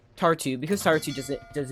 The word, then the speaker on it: Tartu: Something that is a bit annoying, because Taru, let me pronounce his name better, Tartu, because Tartu does not have a port, it is not possible to feed your units in this way.